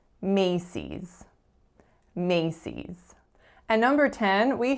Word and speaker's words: Macy's: we have cease cease the strongest syllable is the first Macy's Macy's and number 10